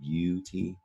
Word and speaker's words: beauty: which is a noun and beauty is tricky this e a you there it sounds like the word you doesn't it beauty it's because this is a french word we have in english beauty is the french